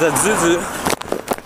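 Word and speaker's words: ayuyu: Anyway, it's like the word for coconut crab is a zuzu, but it's pronounced, or it's spelled A-Y-U-Y-U.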